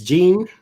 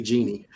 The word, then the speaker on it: Gian: How do you say this name? Gian, I think. I always say it wrong. It's Gene. Savage. I always say it wrong. I always want to say Genie.